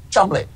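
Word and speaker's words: Cholmondeley: Savage what I'm sorry I'm being told it's actually pronounced Chum we got a great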